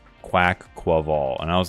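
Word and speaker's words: Quaquaval: pronunciations on stream and everybody thought it was pronounced qu quival and according to the Poke according to tpci according to the Pokemon people themselves it's pronounced quack qual quack qual and I was like oh okay yeah quack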